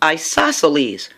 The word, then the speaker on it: isosceles: means that's how it's pronounced this one is pronounced isosceles Isles an Isles triangle has two equal sides